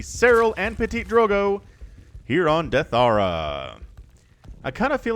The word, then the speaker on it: Deathaura: and Ptitdrogo here on Deathaura. I kind of feel like if the map maker intended it to be pronounced Deathaura, that would be two words, right? So it's Deathaura, the latter edition.